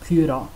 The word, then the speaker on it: pjúra: Having said that, the pronunciation of the letter a on the end of pjúra is another exception to the open closed syllable rule. It's pronounced short even though it's in an open syllable.